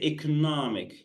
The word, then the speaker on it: economic: you pronounce e economic say economic yeah the stress here is on the next cell second cell here say economic right right